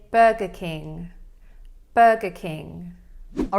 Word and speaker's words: Burger King: All right, and then furthermore, in the word king, we have another difficult sound. It's that NG. So this is actually a nasal sound that we make in our nose. So you should feel kind of like a vibration there. If you don't really feel anything happening in your nose, then you're probably not saying it correctly. You might end up just saying like keen, but it's not keen.